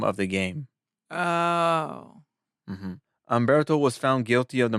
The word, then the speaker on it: Humberto: Is it Umberto or Alberto? Humberto. But you've been saying Alberto. Maybe because like how I pronounce words. But it's Humberto.